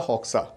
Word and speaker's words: Hoxha: A 74-year-old lady, Batisa Hoxha, या फिर Hoja, because they are Muslims, so the names will be pronounced in this way.